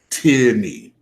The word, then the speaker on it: Tierney: even though I'm saying it exactly the way it's spelled. But all right, let me humor people. Tierney.